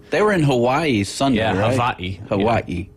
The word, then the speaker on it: Hawaii: Hawaii. Havi. Uhhuh. That's how they say it over there, isn't it?